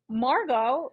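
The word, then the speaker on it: Margaux: awful lot like my sister only her name is spelled m a r m-a-r-g-a-u-x now margo as far as i know my sister and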